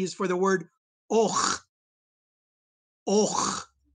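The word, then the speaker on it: 'och: People ask me sometimes, how do I pronounce a stop at the beginning of a word? I haven't said anything. What do? The secret is you just close your throat.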